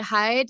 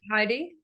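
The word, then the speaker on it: Heide: things about the the how do you say hide Museum art Heidi Heidi yeah yeah it's amazing oh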